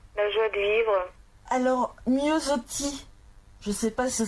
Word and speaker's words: Miossoty: Alors, Miosotti, je ne sais pas si ça se prononce comme ça.